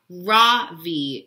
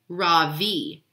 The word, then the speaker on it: Ravi: beam I say softly my name or my voice quivering a little my name is not Ravi it's pronounced Ravi she looks at me